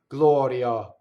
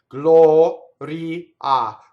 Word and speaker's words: Gloria: So the A is in the last position is always A. So Italian, it's always A. Like right? So open your mouth and say right? So what we tend to do in English is we neutralize. And how do we neutralize the A? We make it Glɔria, right? No. Glɔria, Glɔria. And notice how fast my semivowel is.